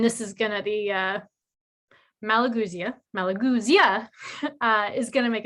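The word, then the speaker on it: Malagousia: one that i need to actually read the pronunciation because i always get it wrong malagusia malagusia thank you for the intonations here for me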